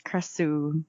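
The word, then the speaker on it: Krasue: called their crusts ooh it's spelled us cry so way but it's pronounced as Chris ooh like oh yeah and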